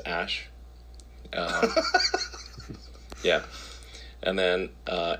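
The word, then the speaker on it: Æ: x um and then the AE is like pronounced Ash uh yeah and then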